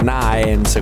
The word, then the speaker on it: Naems: Stavolta parliamo di Naems, che pronuncio così perché si scrive Naems, quindi Naems, con Avadox.